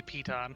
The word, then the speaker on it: piton: or a pen see is it Peyton pin I've never heard them in real life and piton yeah I believe it is technically piton never heard it's like